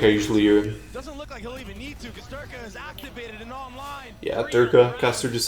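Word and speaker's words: Derke: Durk a or derka I think it's derka right I think you pronounced the E like an a like a combination of both I don't think it's Dirk it's not Dirk and it's not Dirk a it's like derka that's what I feel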